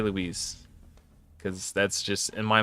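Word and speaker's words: Luis: I know there's a professional Magic the Gathering player who pronounces it Louise. Louise Scott Vargas.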